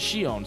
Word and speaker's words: Shion: Plus, the female protagonist is named Shion, pronounced as Shion, so that's definitely a plus.